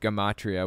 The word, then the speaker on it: gematria: It's pronounced gematria, which we'll get to in a minute.